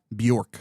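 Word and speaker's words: Björk: the the BJ O RK Buork. Bork. It is Bork.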